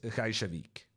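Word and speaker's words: Reykjavík: In Norwegian, it's Reykjavik. But I have no idea what it's in Icelandic. But I'm guessing it's quite similar.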